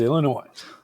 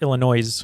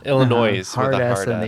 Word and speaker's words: Illinois: we think this is our home state of Illinois oh I hope it's not because we said Oklahoma and the answer is Illinois oh boy yeah when I when I was